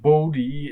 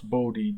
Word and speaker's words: Bode: last name the pronunciation bodhi is because the name after which the plot is named is is an american so i pronounce bodhi the american way not the german way um so here is